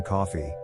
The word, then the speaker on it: Coffey: The prisoner is named John Coffey, which means like the drink, only not spelled the same.